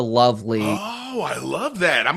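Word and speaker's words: LOVB League: They pronounce it the Love League.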